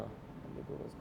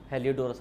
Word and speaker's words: Heliodorus: Spelling a Greek ambassador हेलियोडोरस, HELIO, एक minute रुकना, हेलियोडोरस का नहीं, हेलियोडोरस, हाँ, HELIODORUS।